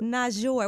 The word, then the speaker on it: Toosii: yeah yeah you said it right that's good not sure what does not sure mean like why does